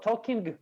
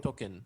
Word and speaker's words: talking: Инговое Глагол окончание как произносится? Вот это talking будет или без г? talking. Talking. Token.